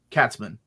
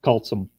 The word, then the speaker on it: Katzman: And Catsman. It's pronounced cultsome. Is it really? No. No. No. It's Catsman. I WAS LIKE, "HOW DID I MESS that up?" It's cats and men together.